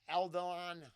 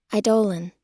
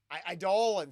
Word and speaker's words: Eidolon: Very, yeah, Eldon, how do you say it? Damn it, I missed it. I had it before. Eidolon. Eidolon, see? Yeah, I got that completely wrong, or the robot got it wrong.